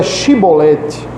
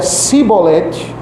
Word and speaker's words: Chibolete: Se respondesse que não, os homens de Gileade lhe diziam: "Então diga Chibolete." Se ele dizia cibolete, não podendo pronunciar corretamente a palavra, eles o agarravam e matavam nos valus do Jordão.